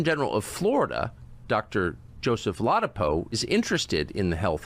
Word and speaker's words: Ladapo: Ladapo is how it's said.